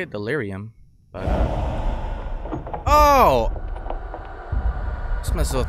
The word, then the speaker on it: delirium: this word delirium that's how you say it delirium but oh this messes with my eyes okay